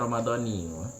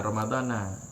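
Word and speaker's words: رمضانِ: itu bacanya ramadani. Jangan ramadana apalagi Maradona.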